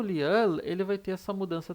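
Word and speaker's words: 리을: Então ele vai ter o som de L no início, na primeira sílaba, e o som de R no meio ou final da palavra, na segunda sílaba, terceira sílaba e assim por diante.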